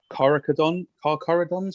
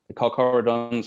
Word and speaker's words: Carcharodons: So it's Carcharodons, I think you pronounce it, the Red Tide.